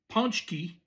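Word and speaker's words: pączki: They probably will end the day or the night with a ponchki spelled like fazaki p a cz p a cz z ki but pronounced ponchki.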